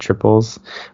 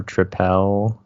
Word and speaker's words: Tripel: a tap or something it is just pronounced double and triple like regular but that that's one